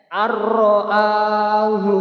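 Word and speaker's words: أَن رَّءَاهُ: Bacaan idgham bila gunnah, yakni cara membacanya dimasukkan tanpa didengungkan. Hurufnya ada 2, lam dan ro. Bacanya bagaimana? Perhatikan seperti ini. Arro, nah, itu sudah masuk tanpa didengungkan ya. Arro'ahu staghna.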